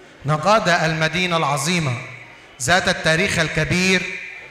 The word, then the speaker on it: نقاده: من كلمه هيروغليفيه وقبطيه تنطق في اللهجه القبطيه القديمه ناي قاده واللهجه القبطيه المعاصره نيكاتي التي تعني الفهم او المعرفه او الزكاه وبالعاميه الصعيديه نجادا نقادها من البلاد التي